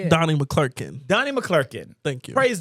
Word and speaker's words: McClurkin: Some people, I said Donnie McClurkin, an ex-gay, has It's McClurkin. Oh, is that how you say it? You put two L. It's Clarkin. How do I say it? Donnie McClurkin.